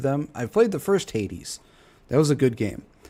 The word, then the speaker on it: Hades: That bugs me he's pronounced it as hates. It's Hades, but Arc Raiders.